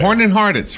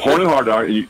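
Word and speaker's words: Horn & Hardart: Horn and Hardits, right? Right. Yep. Horn and Hardit, right? And how you said it? Horn and Hardart or something like that? Horn and Hardart. You go in and pronounce it right, will you?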